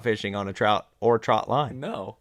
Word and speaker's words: trotline: trout line more than Trotline trout line is what people call it and growing up I realized that I was saying it wrong it's not a trout line it is a trot line I also said it